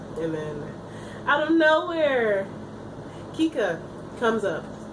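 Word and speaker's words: Kikka: then out of nowhere Kika comes up. I believe that's how you pronounce her name, is K-I-K-K-A.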